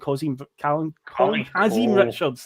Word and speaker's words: Kazim Richards: But I looked there with Carlton Cole and Kazim Richards.